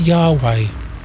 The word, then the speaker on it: Yahweh: and speaking of name there's a bunch of research into how to say this word but the best guess so far is Yahweh which means self-existent one